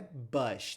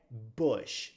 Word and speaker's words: Bush: W Bush não é Bush tem muita gente eu já vi até apresentador de jornal Ancora de jornal falar Bush mas não é Bush é Bush Bush com som de u Bush é até uma